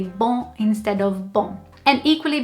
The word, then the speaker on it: bom: Now, it's not quite bom as in French. I find that a lot of people try and say bom instead of bom.